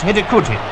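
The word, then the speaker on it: Hidegkuti: less than a minute the Skouras name is pronounced hidden coogee I hope the Olympic champions now started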